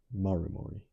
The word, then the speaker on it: Maru Mori: Compare Memento Mori, a poignant reminder of your own mortality, pronounced Maru Mori.